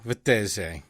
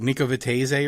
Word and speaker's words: Vettese: the great nico vittez i like just like to overemphasize the italian thing because i pronounced your name so poorly when we first met each other nico vitte what was it nikovitaze or something i used to say i don't know some terrible american accent it was beautiful it